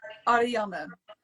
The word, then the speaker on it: Ariana: right SP it well it's a very Dutch sounding name so it's going to be hard but you say it like Arana Ariana thank you my dear